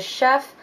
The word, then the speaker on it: Xef: to this spanish cuisine place called the chef but it's spelled xef and i'm going to